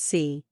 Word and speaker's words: Si: associated with the heart C pronounced like Sir with a slow exhale